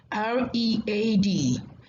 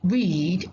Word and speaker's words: read: between diction and pronunciation r e a d can be pronounced as read or read isn't it r e